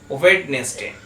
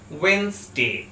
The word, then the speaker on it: Wednesday: এই ওয়ার্ডটা আমরা সাধারণত সবাই উচ্চারণ করে থাকি ওয়েডনেসডে, কিন্তু এই ওয়ার্ডটার ঠিক উচ্চারণ হবে ওয়েন্সডে। ওয়েন্সডে।